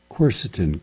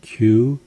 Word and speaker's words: quercetin: Quercetin, Q-U-E-R-C-E-T-I-N, quercetin, three syllables, easy.